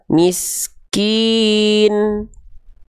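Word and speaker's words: مِسْكِين: Maka ketika kita baca, bacanya miskin tuh miskin. Enggak lagi dibaca miskini, enggak karena dia sudah jadi sukun, ya.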